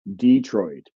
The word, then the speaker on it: Detroit: In some southern varieties, at the very least, you used to get cement, police, Detroit, where the stress was on the first syllable.